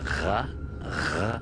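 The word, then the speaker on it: ر: Ra, from the back of the throat.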